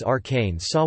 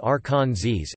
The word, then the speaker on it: Arkansas: senators as one favored the pronunciation as Arkansas while the other favored Arkansas.